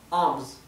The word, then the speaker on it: alms: La palabra alms significa limosna, ¿sí? Limosna. Así que se pronuncia sin la L.